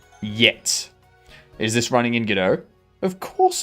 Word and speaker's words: Godot: Outside of Australia, it's not pronounced Godot. It's pronounced Godot. Actually, no. So, the name comes from the French play Waiting for Godot. So, it's based on the name Godot.